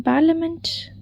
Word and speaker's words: parliament: Select the silent letter in parliament.